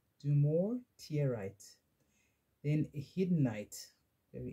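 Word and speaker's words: dumortierite: and Crystal companions or do more tears tear right I'll spell it d-u-m-o r t i e r i t e do more tear right then a hidden Knight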